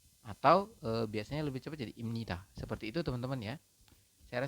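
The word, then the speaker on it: 입니다: m Ini adalah cara bacanya teman-teman maka anda membacanya adalah Im atau biasanya lebih cepat jadi imnita seperti itu teman-teman ya Saya rasa bisa dipahami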